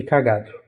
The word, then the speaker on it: cagado: o de cágado e cagado. Por exemplo, cagado é uma paroxítona, porque a sílaba tônica é o G, certo?